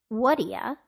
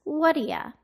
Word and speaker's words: whaddya: do today notice how what do you became Whata and want to became wna listen again what do you want to do today so why is what do you pronounced as Whata what do you to pronounce and understand this